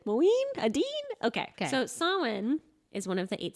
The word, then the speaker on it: Samhain: not to have we yeah we did so sawin or saowin sewin sweeney moeen moeen adeen okay okay so sawin is one of the eight zabots on the